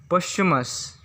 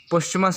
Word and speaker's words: posthumous: ये 2 सिलेबल का वर्ड होता है। अगर इसको तोड़ते हैं तो नोविस, इसे नोवाइस पढ़ा नहीं जाता है। फिर हम लोग का 20 नंबर पर आता है जो वर्ड, वो है पोस्टमस, जिसका स्पेलिंग होता है POSTHUMOUS। यहाँ TH को साइलेंट किया जाता है, जो TH लेटर है उसको साइलेंट किया जाता है, जिससे हम लोग को पोस्टमस पढ़ा जाता है, जिसका मतलब होता